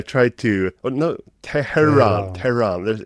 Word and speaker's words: Tehran: Tean. There. There's supposed to be that soft H in there.